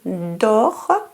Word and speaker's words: dort: Quand vous arriverez vers the link, vous arriverez, quand vous arriverez au niveau de l'hôtel, le lion dort. The T is silent. Le lion dort.